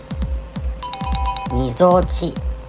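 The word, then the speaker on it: 鳩尾: 正解はみぞおち。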